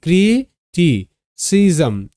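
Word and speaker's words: criticism: একা রয়েছে তার সামনে থেকে ভেঙ্গে নিলাম তাহলে ক্রিটি সিজম সি আই এস এম সিজম সি এর পর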